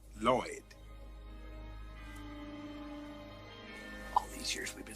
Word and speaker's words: Lloyd: Hail to thee, O Lord. Actually, it's pronounced Lloyd.